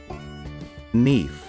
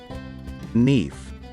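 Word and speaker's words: Niamh: this name sercia how exactly do we pronounce this name neef let's repeat knife once again neef we're going to learn on how to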